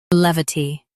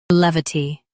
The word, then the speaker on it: levity: Both US and UK have the same pronunciation of this word, levity. Now read the syllables shown on the screen naturally. Lev, T, levity. Stress lev and keep T light.